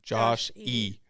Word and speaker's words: Josh E: we call him Joshy but not like in the cute nickname is like oh Joshy Joshy it's Josh e so when I spell